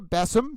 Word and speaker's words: Bessum: I just want to make sure I pronounce the last name. I think it was Bissum. Bessum, B-E-S-I-M.